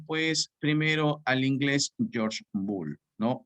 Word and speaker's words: Boole: Y acá yo puedo leer Boole y no estoy cometiendo ningún error en la pronunciación, ¿correcto? Muy bien, Boole o Bull publicó un breve tratado